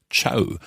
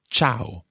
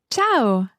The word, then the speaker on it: ciao: of this word quite often people think it's ciao almost as if it's spelled c h or w but it's not it's ciao ciao let's listen to francesca pronounce this word ciao ciao now the interesting thing about this word